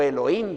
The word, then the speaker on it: Elohim: Elohim es una palabra o Elohim si querés leer sin pronunciar como la H como j aspirada es Dios en plural